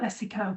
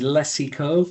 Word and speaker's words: Lecico: Um to get us started, Sean, can you tell us a little bit about Leico, please? Leico bathrooms. Uh firstly and importantly the pronunciation is leo not leico.